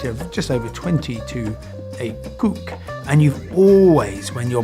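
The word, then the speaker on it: CUC: is the convertible peso known as the cook because it's spelled see you see and that's what you're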